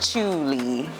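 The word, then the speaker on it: Cuile: It's pronounced Chey.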